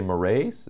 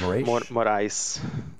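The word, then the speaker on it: Moraes: mine but so Alexander de mores is that how how you pronounce that name uh yeah close enough morice oh I wasn't even close don't be nice Moray okay um he's had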